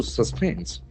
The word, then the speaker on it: suspend: Suspends. S U S P E N D. So here we have two syllables and the falls so the second syllable is suspend.